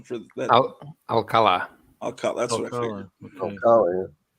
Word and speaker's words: Alfredo Alcala: Paulo, what's the correct pronunciation for that? Alcala.